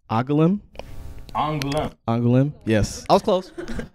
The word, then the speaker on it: Angoulême: Angoulême. Yes. I was close. There was a little N in there that I didn't, there was a little inflection that I almost had.